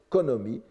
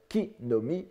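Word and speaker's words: 木の実: Je dis bien le mot, car on peut faire de ces trois syllabes un seul mot, Konomi, qui est un allophone, une prononciation différente de ki-nomi, et qui signifie le fruit, le fruit.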